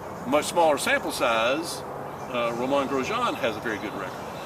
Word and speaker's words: Grosjean: I like Grosjean.